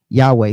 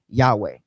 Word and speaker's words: Yahweh: Strong scholars uh consensus for pronunciation close to Yahweh. So a more broader pronunciation that is actually accepted among modern scholars would be Yahweh. All right? Everybody would typically accept the word Yahweh.